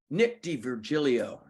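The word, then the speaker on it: D'Virgilio: I'll say everything wrong so you gotta go dver dver dver d virgilio d virgilio he's uh he's a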